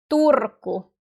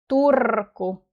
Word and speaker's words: Turku: see some other finished Turco. And in Finnish, we roll our Rs. We say R. Turco. Turco.